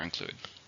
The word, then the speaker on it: include: the grammar label for include verb how many syllables are in include include two stress on the second syllable here's the sentence the